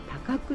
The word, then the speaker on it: 高来: りまして、高い来る、高麗と書いて高久と読む高久神社、